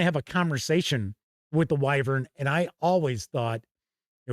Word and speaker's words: wyvern: So, Kevin R. Smith says, "Weavern." Wyvern, tomato, tomato. You know what? I have never heard anyone pronounce it uh a weavern. You know the reason why I pronounce it wyvern, it this is going